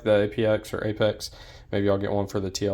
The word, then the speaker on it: APX: Oh, speaking of which, I did order an APX, which Apex is how they pronounce it, Tier 1 concealed holster for the P10C.